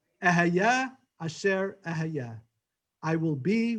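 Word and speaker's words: Ehyeh: Ehayeh, or sometimes we pronounce it because it's the name of God, Kehayeh, because we don't want to pronounce God's name.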